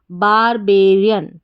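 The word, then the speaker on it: barbarian: तो पूरी स्पेलिंग क्या बन गई? BAR बार, BA बे, RI री, AN अन, बारबेरियन, बारबेरियन।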